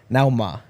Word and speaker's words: Nauma: It's a 19-year-old Ernest Nauma. That's how you say it. Nuama? Nuama. Yeah.